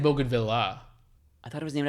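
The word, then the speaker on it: bougainvillea: If it's French, you can't pronounce it bogan. It's not bogan.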